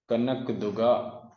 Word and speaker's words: कनक दुर्गा: तो टेम्पल का नाम है काना का दूगा टेम्पल। कनक दुर्गा टेम्पल आप कह सकते हो, थोड़ा सा प्रोनाउंसिएशन में गलती हो जाती है।